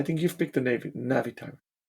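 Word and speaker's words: Navitimer: it's like no it's just not how you pronounce it anyway it's the na'vi navi timer yeah um all right you are unfortunately wrong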